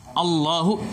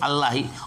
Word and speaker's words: Allah: Jadi Allahu ada tasydid di atas lamnya, ditafkhim artinya ditebalkan. Jadi nggak boleh Allahi, Allah. Jadi kalimat tebal ditebalkan.